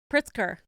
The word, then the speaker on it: Pritzker: funny sorry go ahead I thought it's a prisoner but it's pricks Pritzker JB Pritzker you know what you